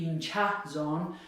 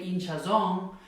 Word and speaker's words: hinchazón: Hinchazón, so it ends in an N. Naturally, it should be here. It should be hinchazón, but since that's not how people say it, they say hinchazón, then we have to put the written accent there.